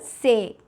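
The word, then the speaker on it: ces: Now for nouns which are either a masculine plural or feminine plural, we use the word say.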